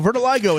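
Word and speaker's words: vitiligo: Vertiligo is how you say.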